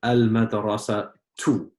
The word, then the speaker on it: المدرسة: So we have al-madrasatu. Al-madrasatu. So why did you pronounce it just with one dhamma, Lujain? Because of the alif lam. Because of the alif and lam.